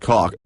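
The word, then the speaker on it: kock: A cock, pronounced cock, is a chef.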